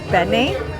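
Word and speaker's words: benne: I finally tried is it pronounced Benet wafers?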